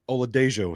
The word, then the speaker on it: Oladejo: Uh but what Oladejo Olade Dejo sorry I think according to my trusty pronunciation guide we do pronounce the uh the J there. Uh there is some high